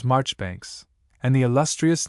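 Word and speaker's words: Marjoribanks: Ledger, for instance, is always pronounced as if written sillinger, commanderly as Chumley, Marjgery Banks as Marchbanks, and the illustrious name of Caendish was for centuries familiarly pronounced Cand.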